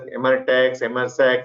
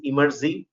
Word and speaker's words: Emertxe: People pronounce as Emertxe, some different names, right? The right way to pronounce is Emertxe.